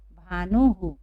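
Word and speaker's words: भानुः: अब भानु छोटा ऊ की मात्रा से बना हुआ है, तो हम लोग यहाँ पर क्या, हुकार का उच्चारण होगा यहाँ। तो भानु को यदि हमें पढ़ना हो तो हम किस तरह से पढ़ेंगे? भानुहु। किस तरह से पढ़ेंगे?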